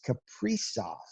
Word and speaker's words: Kaprizov: Yes, we did get the pronunciation correct. It is Kaprizov.